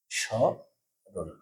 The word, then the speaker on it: স্মরণ: যাবে না যেমন স্মরণ শব্দের শুরুতে ম ফালা আছে তাহলে ম ফালা উচ্চারণ করব না স রণ তাহলে চন্দ্রবিন্দু দিতে হবে